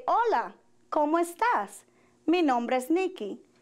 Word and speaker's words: hola: introduce ourselves we say hola como estas mi nombre is note that in Spanish the letter H is silent hola como estas mi nombre